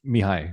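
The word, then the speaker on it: Mihály: Wait, is it his first name is Mihali? Uh, it's pronounced Mihi. Mihi Mihi.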